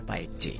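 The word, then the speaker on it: Baekje: Nah, tulisannya itu Baike J gitu ya, bacanya Paik C.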